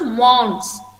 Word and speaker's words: month: इट इज नॉट pronounced as mons, but it is mons. Thaw remains silent. You have to only pronounce mons.